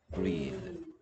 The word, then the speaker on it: breathe: 얘 명사형이 breath였죠. breath. 번데기로 바뀌죠. breath, breathe. 됐습니까? EA의 발음도 뭐, 얘는 A였는데, 얘는 E구요. 점점 땡땡 있으면 모음 소리 길게 내라 이런 뜻입니다. breathe.